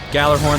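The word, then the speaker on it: Gjallarhorn: Gallarhorn, the J is silent.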